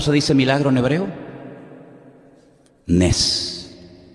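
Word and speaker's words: נס: Nes. Nes.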